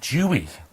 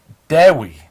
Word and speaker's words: Dewi: for a long time we've been calling him Dewey, we have. but it's not. In fact, it's spelled Dewi. So D-E-H-W-I is how you say it.